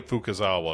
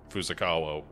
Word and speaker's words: Fukazawa: so shinichi hold on I'm gonna get his name wrong every time shinichi fukazawa because I want to say fusokawa uh uh for no